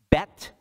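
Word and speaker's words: beth: the letters are aleph bet bet aleph beta's b e t h by the way that's but it's pronounced bet aleph bet bet aleph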